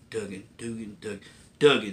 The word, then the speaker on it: Duggan: Duggan. That's how you say his last name.